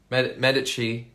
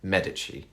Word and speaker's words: Medici: this month I think Medici season 3 or if you're if you don't know the Italian pronunciation Medici Medici probably call it um but yeah the